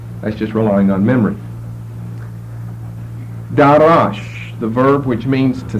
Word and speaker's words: darash: It comes from a verb D, long A, R, short A, S-H. Darash, which means to seek, to search, or to examine.